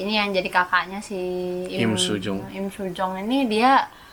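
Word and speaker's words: 임수정: Ini yang jadi kakaknya si Im Soo-jung. Im Soo-jong ini dia Im emang Soo-jung apa Im Soo-jong? Im Soo-jong tulis sebenarnya bacanya.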